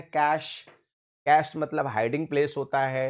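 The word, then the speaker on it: cache: इसका उच्चारण होता है कैश।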